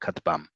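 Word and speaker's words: כטבם: And it also gives you a clue that the emphasis is on the last syllable, katbam.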